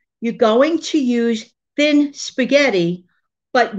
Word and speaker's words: spaghetti: I love the way some people pronounce spaghetti. I have heard some Italians, you know, from Italy, they don't say spaghetti. They say spaghetti. Spaghetti.